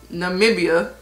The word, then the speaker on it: Namibia: I got the color namibia namibia I had to remember how to pronounce it because I didn't want to be sound of out here it's Namibia it's a dark for